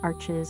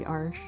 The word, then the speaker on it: Arches: Arches arch. It's actually arsh how you pronounce it.